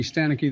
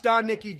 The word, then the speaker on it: Stanicki: Still though, I saw Ricky Stanicki the other day and it was all right.